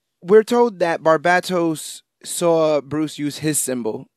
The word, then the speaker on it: Barbatos: I say Barbatos because the emphasis is on the bat. Because bat. And we're told that Barbatos saw Bruce use his